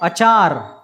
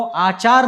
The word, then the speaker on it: अचार: ठीक है, ये है आचार और वो है अचार। ठीक है, फर्क समझे, शब्दों में उच्चारण में फर्क समझे। जो नींबू का होता है, कैरी का होता है, उसको अचार कहते हैं, अचार। ठीक है, और जो आचरण है उसको कहते हैं आचार।